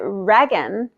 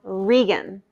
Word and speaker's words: Regan: pronunciation is on point i found out that reagan is actually called regan i called over just